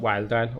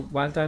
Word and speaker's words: Wiledile: So basically we got Wiledile, okay. So basically dial from crocodile, wild because it rhymes with dial.